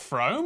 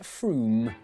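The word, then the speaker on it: Frome: on your train wrong it's not from f-r-o-m-e it should be blitheringly obvious it's pronounced froome but if you did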